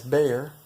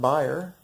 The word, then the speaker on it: Bayer: probably know them as Bayer like vaygr so apparently and it's a German word apparently which is it is actually pronounced buyer and so that's how